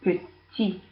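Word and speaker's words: petits: Masculine plural, petit. Don't pronounce the S.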